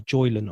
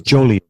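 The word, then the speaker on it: Jolyon: his name right there, Joylan. I think that's how you pronounce it. I think it's Jolly. Is it Jolly, is it? Okay, my apologies. Jolly West.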